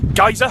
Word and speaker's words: geyser: I'm in Iceland along with a load of windswept tourists waiting for the Straka geyser to explode. I say geyser, that's the British pronunciation, the American one is geyser, and the Icelandic pronunciation is geyser, which is where we actually get the name from.